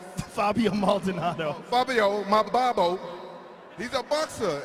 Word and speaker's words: Fabio Maldonado: Fabio Maldonado.